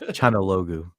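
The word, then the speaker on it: Çalhanoğlu: Okay, Martinez, Turkish dude, Chanaloglu, and Cousins. I'm sorry, I can't do it. I'm sorry. Let the Albanian pronounce the Turkish name because we've got experience with it. So it is Chanaloglu.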